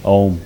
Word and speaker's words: Om: But for instance, we will practice this mantra chanting with using the sound of om which is three syllables a u and m.